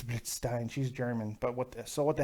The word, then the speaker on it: Blitzstein: I'm sure I said it wrong, Blitzstein. And my wife's like, it's Blitzstein.